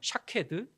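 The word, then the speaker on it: שָׁקֵד: 아몬드 나무이 살구나무는 히브리어 샤케드이거든요. 샤케드. 그런데 지키다라는 동사가 히브리어로 뭐냐 하면 샤카드입니다. 샤헤드. 샤카드. 비슷한 어 발음이 비슷한 소리가 나고 있는 어 단어들이죠.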